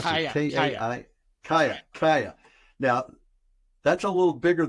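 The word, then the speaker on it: Kaia: Is it how do you pronounce Kaya, it? K-A-I? Kaya.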